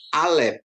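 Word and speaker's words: אלף: Aleb ya, Aleb ya. Aleb atau Aleb silent. Huruf pertama dari alfbet Ibrani dan merupakan konsonan serta tidak dibunyikan dalam transliterasinya penyalinan huruf dalam huruf latin.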